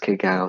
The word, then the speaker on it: cacao: Ah, cacao. Cacao, that would be correct in saying it's actually pronounced cacao.